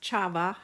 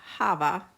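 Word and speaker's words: חַוָּה: The name Eve means life or living, and it's pronounced Chava, Hava.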